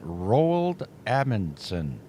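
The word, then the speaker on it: Roald Amundsen: Rald Ammonson. Let me spell that for you.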